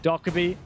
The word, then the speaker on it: Dokkaebi: Dokkaebi, I'm told. I keep saying it wrong. Dokkaebi.